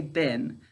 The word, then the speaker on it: been: All right, so when we're speaking, we say bin. To spell our word correctly, we say bean.